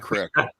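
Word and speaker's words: craic: It's pronounced crack. Crack means fun.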